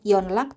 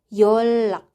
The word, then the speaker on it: 연락: Yonlak 받침 nian ketemu sama huruf real. Jadi kita bacanya bukan yonlak tapi yolak.